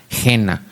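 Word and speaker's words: Gehena: Cristo lo llama Gena. G e h e n a. Gena. Y parece que se pronuncia en hebreo, disculpen mi hebreo, Yeva.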